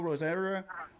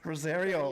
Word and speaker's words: Rosario: We're getting ready to chat with Alejandro Rosera or something like that. Alejandro, roll that R. Alejandro Rosario.